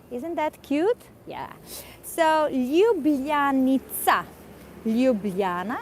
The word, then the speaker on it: Ljubljana: that cute yeah so Li Luana maybe it's a bit difficult to pronounce so LJ u b l j a n a Liana and in all Slavic